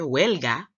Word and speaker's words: huelga: Other word I said related to this picture, huelga, rhyming with Helga, like Helga Pataki.